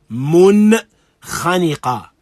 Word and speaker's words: منخنقة: Clear pronunciation of the words. والمنخنقة. منخنقة.